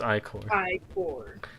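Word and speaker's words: ichor: that was an early sign Ed me it's pronounced i-core what I core shall I take health and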